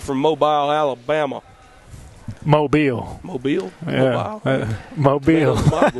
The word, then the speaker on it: Mobile: Mobile. Mobile, yeah, that is the correct way to say it.